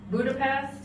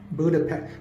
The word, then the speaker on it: Budapest: So, it's spelled P E S T at the end, but they pronounce it P E S H T for all my um geography friends.